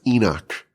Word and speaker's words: Enoch: I think it's it's pronounced Enoch in English. I don't know how becomes Enoch, but we'll just take it.